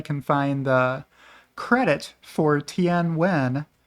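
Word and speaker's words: Nguyễn: find the credit for tnw which is how you pronounce Ng U ye n in Vietnamese uh let me know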